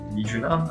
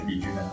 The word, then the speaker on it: Miuna: So Mijuna, okay. Yeah, I think you will be pronounced it as Mijuna, right? Okay, anyways. Miuna? Okay, I think it's Miuna. It's not Mijuna, okay, it's Miuna, okay. So they got continuous.